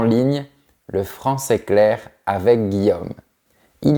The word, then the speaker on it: Guillaume: Le pire, c'est qu'il y a deux prononciations. Dans le sud, on dit Guillaume, mais à Paris, on dit Guillaume. C'est un son plus fermé à la fin. Je préfère le son plus ouvert, Guillaume.